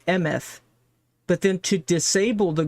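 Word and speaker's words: אמת: It's pronounced Emeth.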